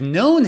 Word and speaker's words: known: next set of words have a silent k for example no i've known him for a few